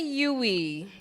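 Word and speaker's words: Uwe: pronounce the second one uh Alan R Moon number two is OU Rosenberg was that close I say yui Rosenberg and our friend Wendy says U oh but there's no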